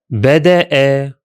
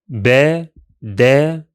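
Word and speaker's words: بدأ: In this case, we shall pronounce it as Bada'a in 3 syllables. Bada'a.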